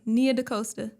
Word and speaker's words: Nia DaCosta: Pronounce it correctly? Let me see. Yeah. Nia DaCosta. There you go. Nia DaCosta.